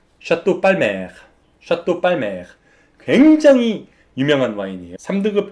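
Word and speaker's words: Palmer: 등급에 마지막 y 샤또 빨 매 샤또 발매 굉장히 유명한 와인 2 3등급 중에서 굉장한 퀄리티를 자랑하는 와인인데 우리 식으로 발음하면 샤또 팔머 라고 발음을 하시면 되고요 젤 이 와인을 만든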